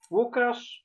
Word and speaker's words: Łukasz: It's Łukasz.